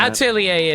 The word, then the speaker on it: Atelier: So I've always heard like atellier or something like that. Atelier is more accurate.